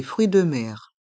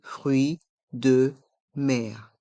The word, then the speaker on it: fruits de mer: fromage du fromage des fruits de mer des fruits de mer le S de fruit est mué et on entend bien le son R dans mer des fruits de mer des fruits de mer de l'ail une gousse